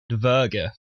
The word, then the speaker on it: dvergr: Yep, the word this week is dverga. Dverga. Yep. Could you spell that for us?